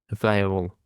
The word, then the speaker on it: viable: Viable the stress is on the sorry the stress on the first syllable viable.